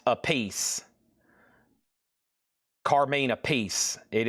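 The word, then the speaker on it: Appice: And it is pronounced a piece. Car mean a piece. It is pronounced a piece.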